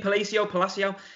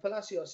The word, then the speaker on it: Palacios: Is that how you pronounce his name? Palacio? Yeah, Palacios. Yeah, hugely surprised because I didn't deserve a world title shot the way I saw it.